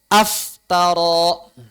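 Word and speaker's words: افترى: Maka demikian pula misalnya aftara. Aftara. Dari kata iftara. Iftara sebetulnya aslinya. Tapi karena hamzah wasalnya itu tidak dibaca jadi aftara.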